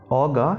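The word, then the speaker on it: ogre: So the answer will be, the green faced Oga helped Ong to become rich. वो ORGE, उसे Oga pronunciation होता है उसका।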